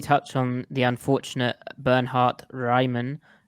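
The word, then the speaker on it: Raimann: on the unfortunate bernhardt ryman but apparently americans can only pronounce that rayman because raymond i just said ryman is way too difficult even though he's actually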